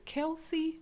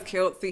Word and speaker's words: Kelce: Kelsey. I'm going to say his name wrong. Travis Kelce.